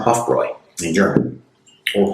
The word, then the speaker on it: Hofbräu: which makes the sound Hofroy in German or Hoffroy because the O's are a little bit different pronounced in German than English.